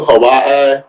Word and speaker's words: Hawaii: Malloy is moving to Hawaii is that the I believe that's the right way to say it Hawaii it is actually and um I've been told that the W in Hawaii is pronounced V I could be wrong